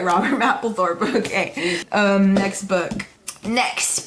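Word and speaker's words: Mapplethorpe: I forget how to pronounce his name. Yeah, I was right. Robert Mappthorp.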